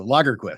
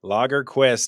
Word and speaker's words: Lagerquist: I always tell people Lagerquist is Swedish for the quest for beer, which of course is not true, but who cares? It makes for a good story. But it helps people pronounce it correctly.